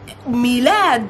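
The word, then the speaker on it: ميلاد: led me land versus simple we're easy to pronounce milad and you might have heard because it's also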